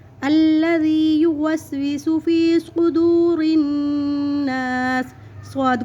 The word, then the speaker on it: الذی: کے پڑھیں گے خناس۔ الذی، ذال کو نرمی سے پڑھیں گے الذی یوسوس فی صدور الناس۔